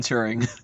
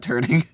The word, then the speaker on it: Turing: And it's Alan Turing, not Turning.